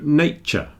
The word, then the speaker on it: nature: when we're speaking quickly the T and the Y blend together and you get a little CH so nature you don't have to pronounce the full ending of the T sound contracts down to a little CH nature future furniture and all the other words that have the same ending they're always pronounced as a CH nature future and furniture